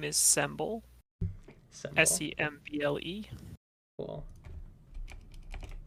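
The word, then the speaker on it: Semble: got any names pronouns um my name is symbol s-e-m-b-l-e oh pronounced day then nice and bun the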